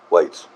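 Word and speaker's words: wights: dudes the we folk it's just w i g hts whites like that has to be how it's pronounced the invisible whites which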